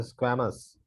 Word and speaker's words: squamous: The squamous. It's a squamous epithelium.